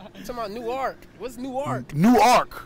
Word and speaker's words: Newark: Like, the proper way is Newark.